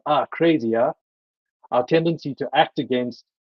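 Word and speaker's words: akrasia: nature of what they called atracia which is pronounced are crazier our tendency to act against our better judgment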